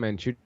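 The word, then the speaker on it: Mandžukić: Mandzukic.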